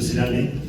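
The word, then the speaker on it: Nosema ceranae: ¿Se acuerdan que yo les hablé de dos especies, no semais y noema cerane, que se escribe en Cana, pero se pronuncia Cerame?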